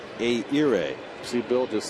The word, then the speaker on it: Ehire: I think I got a little too much H in there. Say it again. It should be Ehire.